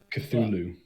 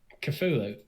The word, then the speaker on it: Cthulhu: Is that how we pronounce it? The dark one. I thought we agreed on this. Cthulhu. Cthulhu.